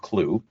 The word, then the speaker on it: Qlo: It's spelled Q L O but uh it's pronounced Clue.